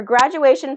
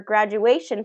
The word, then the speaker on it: graduation: Her graduation party was fun. How many syllables and which syllable is getting stressed? All right, so how many syllables? Graduation. Graduation. 4 syllables. Graduation. Third syllable is getting the stress.